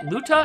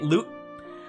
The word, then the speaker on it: Luta: oh my dearest luta is it luta and i've been calling it loot wow i've been mispronouncing it because i read that a as an e at first whoops i'm so sorry for